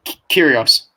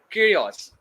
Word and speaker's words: Kyrgios: give me a nice brief it's Kos right curios curios so it's just it's aoke for me to pronounce right now it's a joke B look